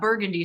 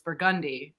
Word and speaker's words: Burgundy: you know, like in New Orleans, like it's not Burgundy Street, it's Burgundy. It's Yeah.